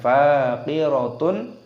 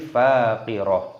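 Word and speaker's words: فَاقِرَة: Biha faqirah, bukan faqiratun ataupun faqirat, tapi faqirah. Perhatikan.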